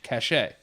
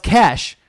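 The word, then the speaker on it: cache: kashchei what is that CA CH e as catch or cash cash a oh it's cash its cash though cash yeah that's like when you're clearing history yeah yeah yeah I don't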